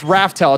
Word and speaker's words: Raftel: the your name is nowadays raftel it's r-a-f-t-e-l aw I'm actually sad y'all aren't